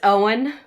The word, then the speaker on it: Eoin: many times, but it's Owen. Oh, there actually is an author with that first name, and I've never known how to say it. Yeah. So the E is silent?